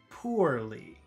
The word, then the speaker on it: poorly: e e purely purely let's compare that to number two poorly so that's po War so that that middle sound is poor poor